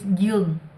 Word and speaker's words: Dung: My real name in Vietnamese is Dung. How do you spell it? Duong. It sounds like it starts with a Y, but it starts with a fucking D.